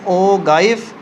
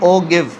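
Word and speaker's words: ogive: उसे कहते हैं हम ओ गाइफ, या फिर हम इसको कहते हैं ओ गिव, ठीक है। मुख्तलिफ लोग मुख्तलिफ प्रोनाउंसिएशन करते हैं, फ़र्क नहीं पड़ता, हमने ग्राफ जो बनाना है उसको फॉलो करना है।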